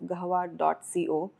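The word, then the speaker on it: قهوة: Or am I pronouncing it wrong? No, it's Gahwa. It's Gahwa, Yeah.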